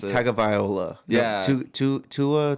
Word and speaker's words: Tagovailoa: Well, like, you know how like that Tagaluga, whatever the fuck his name is, I just got Tua?